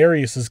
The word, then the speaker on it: Arias: I've heard it pronounced about 7 different ways. I say Arias, as does the rest of my family.